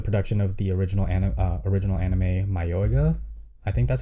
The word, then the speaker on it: Mayoiga: to support the production of the original anime Mayoga. I think that's how you pronounce it. Is Mayoga? Mayoga? I don't know. Mayoiga.